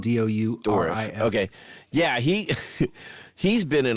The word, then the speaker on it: Dourif: You were talking about Brad Dorfin. Is that it? Dourif is how it's spelled. Dourif.